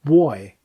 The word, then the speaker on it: buoy: His work here is The Black Bell Buoy, and I pronounce it strangely because I'm trying to convey the fact that it's one of those ocean markers and not a young lad.